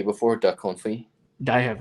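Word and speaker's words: confit: you ever tried the coin fee before duck comfy i have not no so i'm going to yeah and it's spelled like c-o-n-f-i-t it's one of those french words but that in that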